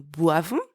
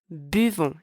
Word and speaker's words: buvons: It's not nous boivons, it's nous buvons. It's a very common mistake.